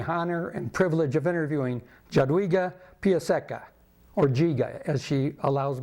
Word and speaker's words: Jadwiga Piasecki: Jiga, please pronounce and spell your full name. Jadwiga Piasecki, Jadwiga Piasecki.